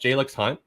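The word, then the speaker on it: Jalyx Hunt: And then I believe it's pronounced Jalix Hunt.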